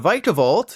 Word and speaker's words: Vikavolt: with palia varar and radiant Greninja as for vikavolt yes that's how you say it Honey Nut